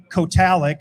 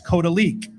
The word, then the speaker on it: Kotalik: It's not Kotalik, it's Kotalik.